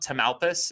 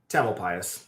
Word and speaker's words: Tamalpais: with this than I am, but this Mount Tamalpais, is that how you say it? Tamalpais.